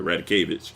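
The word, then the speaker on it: Radakovich: Dan Radikevich. I'm sorry, Radikevich.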